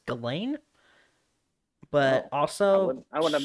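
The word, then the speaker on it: Ghislaine: epstein girlfriend lady apparently i've been pronouncing her name wrong it's apparently it's galen but also i would have known she's a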